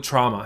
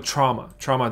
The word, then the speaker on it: trauma: 大家好，我是 Paul，周一到周五英文一起读心理学的东西，我一直蛮喜欢做的，所以当我看到的时候，蛮高兴的。这里讲的是一个九年的研究，9-year study reveals 揭示出 the lasting effects childhood trauma has on adult relationships。事实上，我们觉得这个都是早就已经我们知道是确立的事情了，是很 valid 的一些这个讲到 valid 这个字，OK，是已经 proven right，proven true。很 valid 的一些这个 theory 这样子，但这边有个九年研究，还是把它再说了一次，所以我们从里面能得到些什么呢？好，所以总之啊，就你小时候童年阴影，所以 childhood trauma 这个字认识一下下。OK，我个人在发音上有把这个字，经历了一段 confusion 的时期，因为我会觉得 AU 这个字，它 AU 这两个字走在一起，比较容易感觉变成是